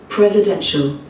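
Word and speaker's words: presidential: ব্রিটিশরা সল আমেরিকানরা চল in British English প্রেসিডেন্সিয়াল প্রেসিডেন্সিয়াল প্রেসিডেন্সিয়াল প্রেসিডেন্সিয়াল আমেরিকানরা সলের জায়গায় চল বলে খুবই সূক্ষ জানা না থাকলে কানে ধরাই পড়বে না প্রেসিডেন্সিয়াল প্রেসিডেন্সিয়াল প্রেসিডেন্সিয়াল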